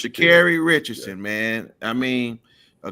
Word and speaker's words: Sha'Carri: My girl, Sha'Carri, is it Sha'Carri? You said it right. It's Sha'Carri Richardson, man.